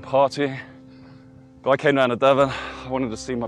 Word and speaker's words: Devon: I always say it, but that's why they say Devon rhymes with heaven.